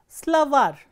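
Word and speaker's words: словарь: is stressed, for example, slavar, slavar ends with a soft consonant or a consonant with a soft sign, slavar, and you can see that the last syllable is stressed, var.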